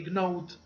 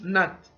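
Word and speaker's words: gnaw: They're going to say gnode or node. No, it's nut.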